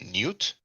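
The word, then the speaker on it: niwt: So I pronounce it Newt. I believe Gardiner at least, and others also will have it as N-I-W-T.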